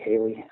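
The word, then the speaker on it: Haile: And you don't have to go look any further than Remarco's work down at Hale. Some people pronounce it Haley, H-A-L-E, H-A-I-L-E.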